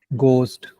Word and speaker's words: ghost: But you speak proper English, there is no H.